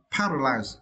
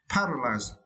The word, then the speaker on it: paralyzed: the second verse uh paralyzed yeah for this verse you need to stretch the first syllable part okay paralyzed as you also can